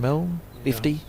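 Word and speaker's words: Milne: Robin Milly.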